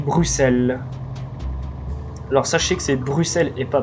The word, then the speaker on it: Bruxelles: Alors, sachez que c'est Bruxelles et pas Bruxelles. Le X se prononce en S.